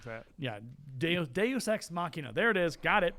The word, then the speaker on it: Deus Ex Machina: Deus Machina? Oh boy. Deus Machina. Whatever that word is. I'm something like that. Yeah. Deus Ex Machina.